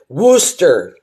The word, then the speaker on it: Worcester: How do you pronounce Worcester of Massachusetts? Wor Worcester. Worooster. That's how you pronounce it.